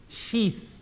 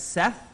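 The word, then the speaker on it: شيث: and the name of his son was sheath say it properly for me bring her tongue out everyone sheath or pronounced in english as Seth right as in that set is correct and mufti menk has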